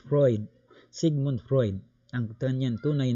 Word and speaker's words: Freud: Wag po ninyong sabihing mali ako sa pronunciation apelyido mo ha. Apelyido po ha. It's, kung titingnan natin parang kakaiba, no? It's Freud, Sigmund Freud, ang kanyang tunay na pangalan.